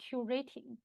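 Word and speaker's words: QuRating: talk about is called Q rating so here the pronounce of Q rating but the Q actually stands for Quality so this actually a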